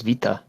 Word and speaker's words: beta: It's beta because the Greek pronunciation is vita.